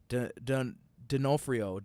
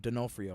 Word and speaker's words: D'Onofrio: del f de onofrio i can never say his last name dinofrio d'onofrio i think that's how you say it um he's reprising his